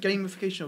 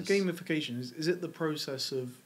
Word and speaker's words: gamification: Is it gamification or gamification? Because I've heard people say... I think it's gamification. No, gamification. I've only ever heard gamification. It's spelled gamification, but it's pronounced gamification.